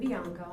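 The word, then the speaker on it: Bianco: current address yes uh my name is biano and I currently reside at one Norman Lane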